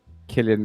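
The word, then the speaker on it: Cillian: collect you because I recently learned this it's pronounced Killian sorry sorry Killian Mafia then disconnected him okay do not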